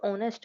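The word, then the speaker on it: honest: देखो ऑनेस्ट है। ऑनेस्ट का क्या है? एच हमारा जो होता है वो साइलेंट होता है। जब हम इसे प्रोनंसिएट करते हैं तो ओ पहले आता है।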